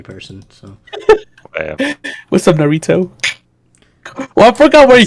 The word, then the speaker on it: Naruto: I was like, all right, what's something weird that I could just pronounce wrong on purpose? And I was like, Naruto. Let's just say Narito.